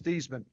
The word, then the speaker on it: Theismann: How do you pronounce our last name? I'll explain it later." He said, "It was Thman." Hung the phone up. I turned to Roger. I said, "Raj, my last name is Theman."